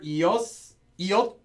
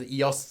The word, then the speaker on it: 이었: So just remember iot. Sorry, it's not pronounced ios unless there's anything coming after it. So iot or yot after a vowel.